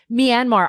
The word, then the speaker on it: Myanmar: in on this um greg am i saying it correctly me and mar myanmar myanmar okay you see i was not saying it correctly myanmar i love greg you